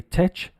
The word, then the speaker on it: tech: I do hear my students say tech sometimes, depending where you live in the world. The pronunciation is like a K. It is tech.